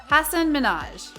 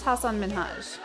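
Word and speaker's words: Hasan Minhaj: episode degeneres introduced the comedian by his name hassan minaj pronouncing both his first name and last name incorrectly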